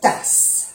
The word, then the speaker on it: tasses: Igual con tasse, se pronuncia bien la S porque hay 2 S. No se pronuncia la E y ni la S del plural.